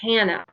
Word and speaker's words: Hana: Like people are like, oh, Hana, just Hannah, just a regular Hannah. Don't Right. try to say Hana, Hana.